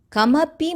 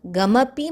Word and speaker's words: kamapi: Same way, many of us have the habit of pronouncing ka as gha. So, kamapi manipure, not gamapi manipure.